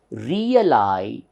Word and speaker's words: realization: Therefore, this is realization.